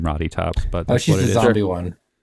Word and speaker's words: Rottytops: Oh, Roddy Top. Like rotten. I can't really explain the name Roddy Tops, but Oh, that's she's what the it is.